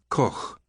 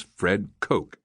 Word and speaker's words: Koch: Harry had a thick Dutch accent and pronounced the name Koch with a soft, guttural ch. The West Texan pronunciation sounded more like a crow's caw. Years later, someone paged my father at a train station and mispronounced his name over the microphone as Fred Koch. My father had never liked the West Texas version, so he adopted that pronunciation on the spot, thereby making a significant contribution to American phonology.